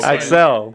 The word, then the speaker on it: Aczel: little bit about your story and stuff so axel yep did i pronounce it right i mean we can go first we're going to say it right and we're going to say excel excel i do it that works out man